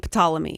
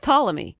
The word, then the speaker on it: Ptolemy: potala me Tutankhamun but you don't pronounce the P and potala me right it's just Ptolemy right well though I